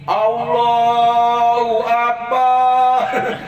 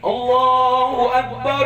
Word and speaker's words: Allahu Akbar: Allahu Akbar. Allahu Akbar. Kagak nyampe ke langit. Muyang-muyangin kuping doang itu mah. Bacanya salah. Yang betul bagaimana? Ya tadi Allahu Akbar, Allahu Akbar, Allahu Akbar.